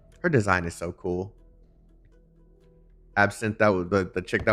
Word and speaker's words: Absinthe: How do you say this name? Absinthe? Absinthe? It's true. I checked with them. Yeah, no. Absinthe? The E is silent.